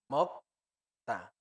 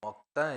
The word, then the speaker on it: 먹다: Se escribe como está en amarillo y igual se pronuncia como está en rojo. Comer se dice 먹다, mokta. 먹다, Es comer. comer, Ok, mokta es comer.